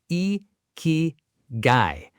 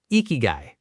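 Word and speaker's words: 生き甲斐: Let's start with the word itself because it's a Japanese word and the pronunciation is actually not too difficult once you hear it a couple of times. It's e-ki-gai. Ikigai.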